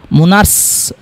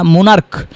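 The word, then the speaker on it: monarch: কিন্তু এখানে দেখেন এটা স্টোমাস হবে না, স্টোমাক শেষে ক হবে, বা মুনার্ক, মুনার্স, মুনার্স হবে না, মুনার্ক। তো দেখেন এখানে সিএস এর উচ্চারণ ক এর মতো হইতেছে বা মুনার্কের উচ্চারণ ক হইতেছে।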